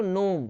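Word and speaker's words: gnome: वैसे ही आप पढ़ोगे इसको नोम, नोम मतलब होता है बौना यानी छोटे हाइट वाला।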